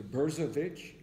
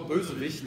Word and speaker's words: Bösewicht: I won't pronounce it right, but Greg will. It was a Bersowich. Is that it? Meaning villain. Oh, Bösewicht, ja.